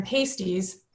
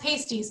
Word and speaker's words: pasties: So those evolved into modern pasties. Pronounced pasties, not pasties like the food.